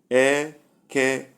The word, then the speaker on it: Eke: Eke. It's pronounced eke, but it can mean 3 things.